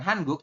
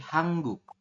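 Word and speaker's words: 한국: ini nah ini nanti kita bacanya menjadi bukan hanguk tapi hangguk ya nanti ada di aturan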